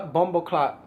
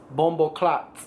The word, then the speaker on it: Bumboclot: cl I'mma call yeah Bumbo clot right that's how you say it Bumbo clot or clock no it's clot bumo clot right all right well